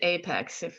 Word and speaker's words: APEX: lot to cover here um apex it is apex if um there's always a pronunciation thing it um application express versus visual